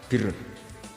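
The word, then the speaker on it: بِرّ: Ya kalau di isim fa'ilnya umumnya guru-guru kita baca barin, tapi untuk masdarnya untuk kebaikan bacanya apa? Birun. Nanti kamu protes, oh barun itu daratan Gus, kalau birun itu kebaikan.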